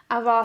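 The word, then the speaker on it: ajvar: I got a aar, I think, cuz you don't pronounce the J. Maybe avar sauce that I'm going to do with some Croatian pasta that I picked up.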